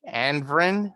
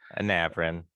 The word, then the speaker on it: Anavrin: Hey everybody, this is Jeff, aka GCurse, with my friend Aaron, aka Anvrin. I think that's how you pronounce it. Anavrin. Anavrin. It's okay, It's hard to pronounce.